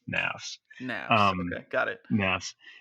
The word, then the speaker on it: Knafs: It rhymes with laughs, rhymes with graphs, nafs.